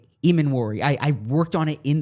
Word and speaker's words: Emmanwori: The players on your board who stand out like a sore thumb heading into tonight are I would say, Emmanwori, Luther Burden, the Missouri wide receiver, which would probably be a surprise if they moved up for him.